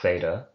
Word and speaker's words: theta: from the epsilon so this is theta a th sound like in thin a voiceless dental fricative if you want to be specific about it though it